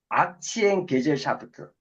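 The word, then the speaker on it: Aktiengesellschaft: 봤더니 독일어 발음이 악치엔 게젤샤프트.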